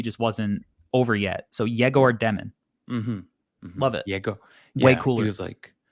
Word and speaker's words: Egor Demin: So he says it's pronounced Egor Demin. Egor Demin.